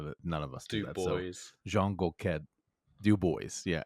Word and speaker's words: Dubois: We've got Dubois. That's Dubois.